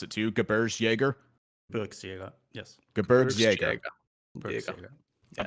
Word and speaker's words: Gebirgsjäger: So listen carefully. It's Gebirgsjäger. It's not like Gebirgsjäger? The J is not like soft.